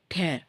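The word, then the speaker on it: tear: எஸ் அப்படின்னா கண்ணீர் இல்லையா இதையே வந்து டேர்னும் சொல்லுவாங்க இதே ஸ்பெல்லிங் தான் இருக்கும் டேர் ஐ am going to டேர் the paper அதுக்கு ப்ரொனௌன்சியேஷன் உச்சரிப்பு வந்து வேர் வேர் மாதிரி சொல்லுவோம் டேர்னா கிழிச்சு போடுறது டியர்னா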